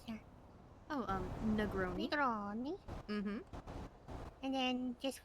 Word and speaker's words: Negroni: Or how do you pronounce that? Oh, Negroni. Negroni.